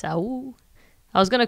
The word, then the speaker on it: Awooh: It's Awooh. It's it's a wolf's howl, so a werewolf's howl. So you just have to imagine it sung.